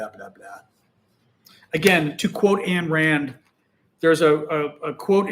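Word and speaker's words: Ayn Rand: Again to quote Anne Rand, there's a a a quote in I think it's the fountain head, one of her books or Ein Rand if you're saying it correctly, I guess, but the quote in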